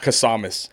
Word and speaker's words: Kasamis: Anyone pronouncing my last name's screwed. Let's You hear know, it. Kasamis. Kasamis. Yeah, Yes. so it's like, Yeah. and then it looks like Cassimus, you know what I mean?